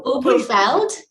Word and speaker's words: Oberfeld: We have Miss Naheed from I'm not going to pronounce it right, I promise you. Oberfeld. No, Oberfeld.